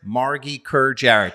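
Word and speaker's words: Margy Kerr-Jarrett: founded by creative directors Amuna Winer and Margaret Margie Kerjar. Did I get You have pronounced all the things correctly.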